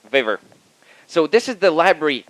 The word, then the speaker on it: Vavr: So being a Russian from Estonia, I typically pronounce things the way they're spelled. So it's V-A-V-R. So I call it Vavr. So just like Stanislav Wawrinka, the tennis player. So official version is that it's waiver.